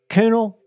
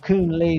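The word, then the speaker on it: Coön-Lee: like that is because Shane always pronounced him Coonel. Hey, Coonel. Hey, Coonel. And I asked Kyle one night, pronounce it. And he spelled it out, C-O-O-N, with like a little umlaut and then a dash and a Lee. So he's always called Coon Lee to me.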